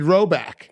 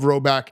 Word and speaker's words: Rhoback: I saw Sam Hubbard's cousin who invented Roback.